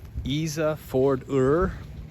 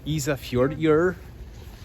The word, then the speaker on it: Ísafjörður: We are at, let me try to pronounce this, Ísafjörður in Iceland. Ísafjörður.